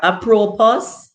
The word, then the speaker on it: apropos: I mean another word here, apropos. And if the S is silent, I guess it's apropos.